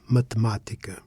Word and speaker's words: matemática: Mathematica. In mathematica, the stress falls on ma, which is the third syllable from the end, not the second from the end.